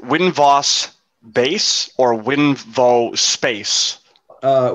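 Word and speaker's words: Winvos: space yes i'm sorry is it win vos bass or winvo space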